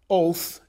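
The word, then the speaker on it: אות: is the Hebrew word oath and again the Hebrew there's the Hebrew Mark o WT uh but pronounced much like our English word oath interpret his Mark in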